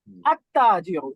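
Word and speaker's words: التَّاجِرُ: আত্তাজিরু, আত্তাজিরু এখানে কি লাম উচ্চারণ হচ্ছে? না জি না। না সাইলেন্ট। পরবর্তী অক্ষরে তাসদীদ।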